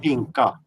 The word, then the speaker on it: pinka: To pee in a slang word is pinka. So it's not pink. It's like a different pronunciation.